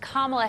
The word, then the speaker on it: Kamala: that's okay I forgive you because you guys pronounced Kamala Harris that's important thing is that it is